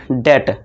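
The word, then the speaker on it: debt: अब देखिए यहाँ देखिए, जैसे पहला एग्जाम्पल है डेट, है ना, इसे डेट पढ़ेंगे।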